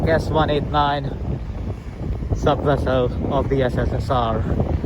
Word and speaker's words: S-189: written C1 189 but in Russian language c means s so it's pronounced like s189 sub vessel of the